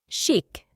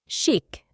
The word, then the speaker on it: chic: logger at the bar this word originates from French it means sty styish it is pronounced shik shik she always dresses in